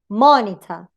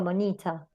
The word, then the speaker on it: monitor: If both the second and third syllable are weak, ¿no? Supongamos que ni esta ni esta, the stress, of course, will fall on the initial syllable, the first syllable. Parody, monitor. No digo monita. O parody. It's parody.